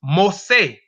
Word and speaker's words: Mossi: according to recent and the ethnographic moosie pronounced most say or an ethnic or